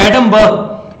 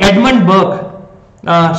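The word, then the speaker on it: Edmund Burke: there might be या इट वाज नॉट एडम बक इट वास actually एडमंड बर्क Shashank एडमंड बर्क एडमंड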